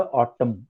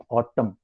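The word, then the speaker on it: autumn: Ottoman, October and इसका इसका इसका अक्टूबर इसका जो प्रोनाउंसिएशन है वो ऑटम, ऑटम, वो ऑटम।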